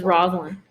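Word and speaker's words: Rosaline: list who is it rosalind or rosa lions i would say pronounce it this roslin so who is it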